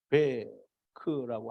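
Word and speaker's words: תָּוֶךְ: 이제 물 가운데를 우리가 히브리어로 하면 타웨크 혹은 타베크라고 하는데, 왜냐하면 여기 바브라고 하는 이 발음이 웨 발음을 할 때도 있고 베 발음을 할 때도 있어요.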